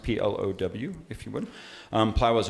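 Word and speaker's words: Plovgh: from plough which is spelled PLO vgh but pronounced PLO w if you would plow was a partner in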